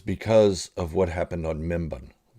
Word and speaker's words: Mimban: of what happened on membon it's mimban or mimbin minban I think it's mem Bon but they were pronouncing it differently and uh and or